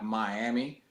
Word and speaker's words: Miami: Now it's spelled just like Miami, right? But you can't. In Oklahoma, they make it Miami. They have to have that twang to it, I guess.